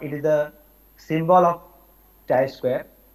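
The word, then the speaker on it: chi-square: square but not it is the symbol of Chi Square pronounced as Chi square of chi Square as a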